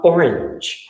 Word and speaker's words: orange: sort of burn um orange singed orange the way i pronounce it or the way it's pronounced i think in you know in the united states singed and orange rhyme so there and that particular